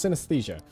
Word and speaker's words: synesthesia: I was like, I feel like I'm gonna pronounce this wrong, but no, it's synesthesia.